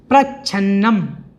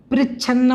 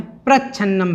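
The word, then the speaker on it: प्रच्छन्नम्: उसके बाद फिर जो है प्रच्छन्नम, पृच्छन्नम नहीं है, कुछ लोग पृच्छन्नम बोल देते हैं, तो प्रच्छन्नम इस प्रकार से इसको बोलना है, प्रच्छन्नम, पृच्छन्नम नहीं।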